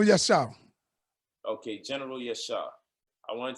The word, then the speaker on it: Yashar: Yo, so with the general that we have down here, I don't want to mispronounce his name. Yashar? Yes, General Yashar.